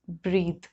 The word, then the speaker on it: breathe: When it is the noun, it is pronounced as breath, and when it is a verb, it is pronounced as breathe.